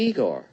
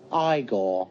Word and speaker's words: Igor: on no it's pronounced Frankenstein you must be Igor now it's pronounced igore and that's used as reaction GIF a lot